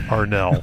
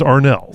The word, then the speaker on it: Arnall: She was like, "It is pronounced Arnell." I was like, "What? Oh yeah, sorry." And yeah, so since then I have been like on a razor's edge. It is Arnell.